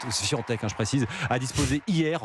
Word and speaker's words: Świątek: Alors la joueuse polonaise, elle prononce en fait Świątek, je précise, a disposé hier en 2 petits sets de la brésilienne Béatrice Haddad Maia.